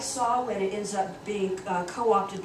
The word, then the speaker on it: Samhain: But this is pronounced Samhain.